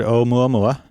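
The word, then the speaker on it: ʻOumuamua: And I think I'm saying it wrong. I guess it's o mua mua. But nonetheless, it means in Hawaiian a messenger from afar arriving first or advanced scout. And how do you say it again? O mua mua. O mu mua. I've heard it said mua mua as well, but I guess you'd have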